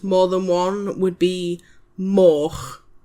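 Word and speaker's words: moch: Uh, a pig is a min and more than one would be mo.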